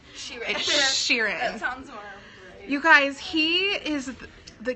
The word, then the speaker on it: Sheeran: Sheeran is which I figured out how to pronounce his name ok it's not she ran she read Sheeran you guys he is the cutest singer he